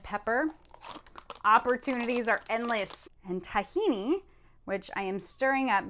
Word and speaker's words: tahini: time mix your tahini tahini rhymes with Lamborghini did that's a pasta